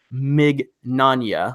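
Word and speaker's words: Mignogna: con attendees particularly minors by the way it's pronounced Mig na like lasagna and also Monica's last name is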